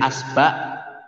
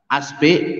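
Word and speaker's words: إصبع: Isba' ini bacanya boleh asba', asbe, asbu, isba, isbe, usbu, baca 9 ya.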